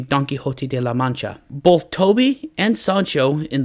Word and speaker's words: La Mancha: happens in the book, as a man of La Mancha, yeah, I said it right this time, named